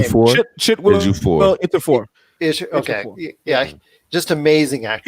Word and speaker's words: Ejiofor: Oh, Chiwetel Ejiofor. I can never say his name. Ejiofor.